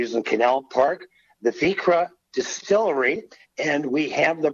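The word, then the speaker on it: Vikre: But first of all, spell it, because it doesn't spell like it sounds. Right. So Vikra is our last name, but it's also Norwegian for bay, people of the bay. Vik is the Norwegian word for bay. So it's spelled V-I-K-R-E, Vikra.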